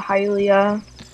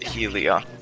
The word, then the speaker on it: Hylia: lab nothing like helium hylia um it saddens me that you pronounced it helia at least i remembered to start with an h what did you get